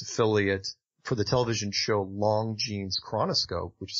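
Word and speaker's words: Longines: on the CBS affiliate for the television show Long Jeans Chronoscope, which is spelled L-O-N-G-I-N-E-S.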